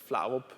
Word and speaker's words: Flarup: Michael, I believe the Americans and the British pronounce it Flarup. It's Flarup in Danish.